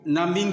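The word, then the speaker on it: numb: इसी तरह से माइंड नमिंग पीपल माइंड नंग माइंड माइंड माइंड नम ब साइलेंट है माइंड नम मतलब की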